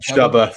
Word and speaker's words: Chuba: Chuba. Thanks, it rhymes with Hubba Bubba.